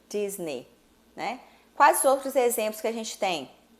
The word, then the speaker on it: Disney: Então, neste caso mesmo, Disney, eu corto a letrinha E, faço um X em cima dela para lembrar que eu não falo Disney, e sim Disney, né?